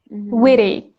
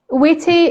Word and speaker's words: witty: Witty. Witty is standard pronunciation, but American speakers pronounce it with a flat T.